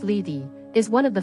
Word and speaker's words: Lethe: Lethe, pronounced Lethe, is one of the 5 rivers in Hades.